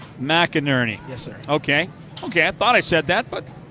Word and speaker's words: McInerney: It was very close. It's McInerney. McInerney.